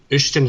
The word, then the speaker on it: Uisdean: One of Ushton himself, that's how you pronounce his name. It's in Gaelic. It's spelled Uisdean.